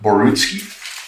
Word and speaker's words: Borutski: one now Basel mik pronouncing your last name correctly is it borutski yeah okay um thanks very